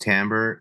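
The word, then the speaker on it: timbre: a term called tamber looks like it's spelled like Timber kind of thing it's pronounced tamber and it's basically the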